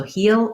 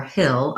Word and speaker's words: he'll: So if it's challenging to do this heel with that tense E, know that in connected speech, we often reduce that down to a he'll go, he'll have to say that. So you'll hear different pronunciations. The one you mostly want to avoid is using the full he will. So heel or hill are both natural and smooth for fluent speech.